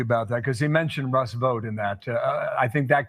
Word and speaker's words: Russ Vought: I guess it's Russ Vought is how it's pronounced.